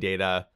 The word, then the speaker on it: Data: than data and he says no it's it's data he corrects her the pronunciation of his name yeah and then she